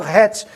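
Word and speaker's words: חץ: Não só isso, a palavra flecha é a palavra het, é pronunciado het em hebraico, e essa palavra se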